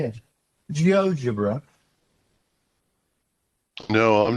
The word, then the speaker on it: GeoGebra: can't even say it, GeoGebra? No, I'm not heard of that. Have you not come across No. It's spelled a bit like geometry and then algebra, but it's GeoGebra.